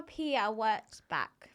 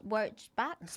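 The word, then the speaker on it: Pia Wurtzbach: Do you think it's something I remember Pia W back? That's how you say her name. Back. W back.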